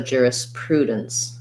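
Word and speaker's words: jurisprudence: so um thinking about juris juris prue and then dense at the end is going to almost have no vowel again there's our syllabic end so going as quickly as i can from the d to the n and the ce says s so juris prudence juris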